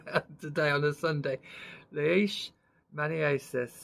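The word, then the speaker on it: leishmaniasis: today on a Sunday leish Manis that's how it's pronounced on in the word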